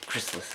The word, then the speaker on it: Chrysalis: Yeah, Chrysalis is the proper pronunciation, but who cares at this point?